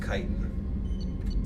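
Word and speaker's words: Chitin: By the way, that's pronounced Kitan.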